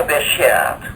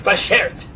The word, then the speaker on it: bashert: She was my beshert. Is that the correct pronunciation of that? No, I think you're overextending it, but that is the right word. It's bashert. Beshert. Bashert. Cut it down a bit.